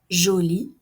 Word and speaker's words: jolie: joli oh c'est joli jolie elle est jolie la prononciation est identique mais il y a un E pour le féminin fort forte oh il